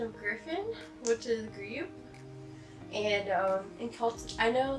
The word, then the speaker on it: Griobh: So I named him after the Irish pronunciation of Griffin, which is Griobh.